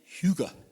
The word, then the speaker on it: hygge: And it's pronounced, I think, hygge.